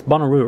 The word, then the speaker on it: Bonnaroo: It's Bonnaroo, right? I'm pronouncing yeah, it correctly.